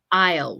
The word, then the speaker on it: aisle: I usually um the the S of this word is actually silent so it's the pronunciation is aisle what picture shows an